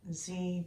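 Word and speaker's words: dzi: as a master bead i've chosen a tibetan z bead and that's spelled d z i which is known for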